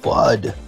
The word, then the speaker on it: FUD: It's pronounced FUD, Mr.